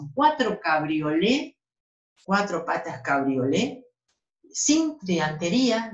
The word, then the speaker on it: cabriolé: Sin T. Cabriolé, el del respaldo con T. No se pronuncia castellano la T, así que lo pronunciamos cabriolé ambos.